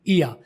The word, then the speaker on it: ear: और जो ये कान होता है उसे कहते हैं ईया। तो कान को ईया बोलना है और साल को यिया बोलना है। आर दोनों में मैंने प्रोनाउंस नहीं किया, आपने सुना, ठीक है।